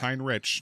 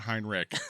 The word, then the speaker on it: Heinrich: It's Heinrich, not Heinrich. Yeah. Yeah, New German, not Old German.